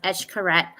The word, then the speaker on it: Xcaret: There's so many, and she booked us this adventure travel where it was with Etchkaret, and it's spelled Xcaret, and it's pronounced Eshkaret, cenotes.